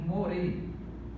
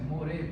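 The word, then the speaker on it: מורה: Então nós temos o segolo, outro sinal massorético indicando aqui a vogal E. Então nós temos more, essa é a pronúncia, more, professor.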